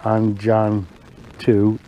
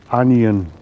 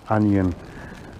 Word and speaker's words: Anjan: like it i've just been told how to pronounce the word i was calling it the angel ii it's a anion 2 apparently andy says that's how you pronounce it onion i mean the i don't know how it